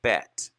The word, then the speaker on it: Bet: bait gimmel dalit hey now you'll hear israelis say bet because they want to differentiate from the word bait that means house of because remember the picture of the letter bait is a house but i tend to pronounce it the way it's spelled